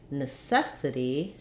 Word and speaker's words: necessity: and then again another change in necessity has second syllable stress so i would say